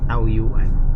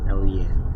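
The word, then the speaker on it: Taoyuan: Pero pag Pinoy ang nag pronounce tauyuan. Tawuyen yan dito na tayo city na yan Tawuyen City.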